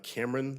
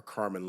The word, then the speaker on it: Carmen: Uh Cameron. Or Carmen, excuse me.